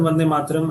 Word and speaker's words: Vande Mataram: It's pronounced Vande Mataram.